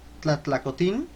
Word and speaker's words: Tlatlacotin: que son los esclavos, Tlatlacotin, porque lleva acento en la I.